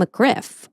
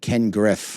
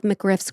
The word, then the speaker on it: McGriff: No, I said Ken Griff. Oh. I thought it was, whatever. Anyway. McGriff was reportedly furious with 50 Cent for referencing him in the song Ghetto Quran, which exposed some of McGriff's criminal activities and connections.